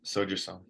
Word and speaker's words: Sojasun: And you were with Riley on, is it pronounced Sojasun? Yep, Soju Sun.